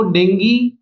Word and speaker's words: Dengue: देखिए, जो शब्द है इसका सही उच्चारण डेंगी होता है, लेकिन हम आमतौर पर इसे डेंगू बोलते हैं।